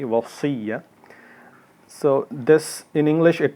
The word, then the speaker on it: Wasiyyah: And again, when we say, many people say it wrong, Wasiyyah, there's a sad in it, so it's like heavy, Wasiyyah.